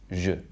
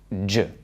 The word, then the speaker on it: je: So this French word here is je. Moi je pense. Je. And not je. English speakers usually find the vowels in these 2 words pretty tricky. Think about how you pronounce the English name Sue. Sue. If there's some movement in that vowel, oo, oo, then it's a diphthong. But these French vowels need to be monophthong, so just one vowel quality.